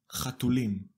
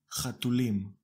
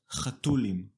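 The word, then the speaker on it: חתולים: Chatulim. Chatulim. Can you hear the ultimate stress? Chatulim, not chatulim.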